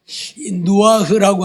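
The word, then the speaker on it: נוח: 그리고 머물렀으며이 누아흐라고 하는 말인데이 누아흐 그 우리가 잘못 발음하면 루아흐 숨 호흡 그 발음하고 비슷한데 거기는 엘자 루고 여기는 니은 누고 누아흐다 쉬다 그런 얘기예요.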